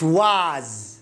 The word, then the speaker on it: was: خذ بالك أنه يعني لها نطقين، يعني في بريطاني أمريكي was إذا ما سمعتها was صحيحة، was صحيحة، يعني كلا اللهجتين يعني لهجة هي. it was واو ألف ثم ز، ليست ليست was لا was بالزاي. لماذا؟ خلاص هي نطقها هكذا، يعني هي تكتب هكذا، لكن عندما يعني مع السنين أصبحت تنطق was وليست was.